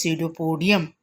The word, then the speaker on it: pseudopodium: Pseudopodia, and its singular is pseudopodium. P is silent here.